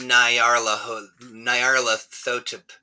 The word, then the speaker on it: Nyarlathotep: mean, yeah, it's pronounced Nyarlathotep. Nyarlathotep.